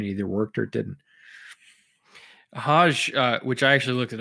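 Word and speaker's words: Hoge: Hodge, which I actually looked it up a couple weeks before the draft because I thought it was Hogue as well. I guess he pronounces it Hodge.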